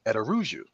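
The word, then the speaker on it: Araújo: hi hey what's up Brian and at aruu excellent pronunciation of my last name who taught you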